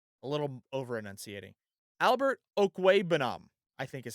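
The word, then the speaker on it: Okwuegbunam: Last tight end to keep an eye on is Albert Okuwebanam. That's how you say it, by the way. Actually, I think that's a little over enunciating. Albert Okuwebanam, I think is how you say it.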